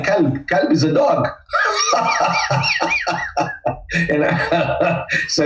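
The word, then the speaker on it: كلب: Instead of the qaf, you turn to kaf, you say kalb.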